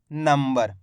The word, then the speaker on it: नंबर: है कैसे पढ़ा है नंबर यानी कि मां का आधा उच्चारण निकाला यहां पे नंबर इस